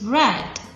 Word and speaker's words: read: to past tense although the spelling remain the same but the pronunciation is different it is red red red cut cut